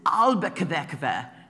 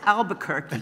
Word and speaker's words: Albuquerque: Frauke's German accent] "Laura, I don't understand this [pronouncing in German] was ist 'Albuquerque?'" I said, "It's 'Albuquerque'."